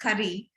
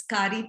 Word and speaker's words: Kari: He promised me it was not pronounced curry as we do in India, but it's Kari Taco, to come and give